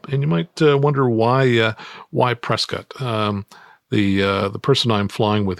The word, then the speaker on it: Prescott: If we make it to Prescott for our or Prescott, I think it's pronounced differently than Trescott.